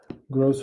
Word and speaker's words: gross: Gross rhymes with most.